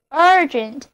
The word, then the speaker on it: urgent: 这样我们要说的下一个单词 urgent 就自己出现了。 Urgent 紧急的、急迫的 ,urgent, 字母组合 ur 发作 a 的长音，字母 g 发作 g, 后面的 e 字母同样发作 a, 那么 urgent, 紧急的、急迫的。我们刚才提到的急迫的要求要搬到城里，就是 urgent need to